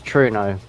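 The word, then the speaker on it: Truro: by the way, the correct pronunciation is Truno.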